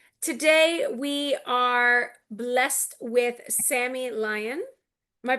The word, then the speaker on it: Sammy Lyon: Today we are blessed with Sammy Lion. Am I pronouncing that correct?